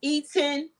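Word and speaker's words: Etienne: the black guy named his name is Eaton Murray it's like spelled weird it's spelled e t-i-e-n-n-e if I'm not mistaken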